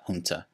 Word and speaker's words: junta: the famous quote-unquote junta by the way it's pronounced junta regardless media outlets have parroted this which in